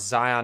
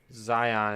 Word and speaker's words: Zion: People pronounce Zion National Park. Zion is supposed to be... It's Zion. Zion. Because Zion's bank. So it is Zion, not Zion.